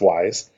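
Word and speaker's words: Wwise: studio and audiokinetic wise which is w wise but it's pronounced wise there they're both really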